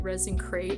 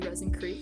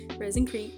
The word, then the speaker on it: ResinCrete: through the whole time I was saying it resin crate when like it's actually resin creete so yeah I do apologize for that resin creete resin creete but yeah